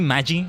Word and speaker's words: Magi: Funny enough, only until recently did I realize it's supposed to be pronounced like that. Because it's based on mage. Mage in plural is Magi, but yeah.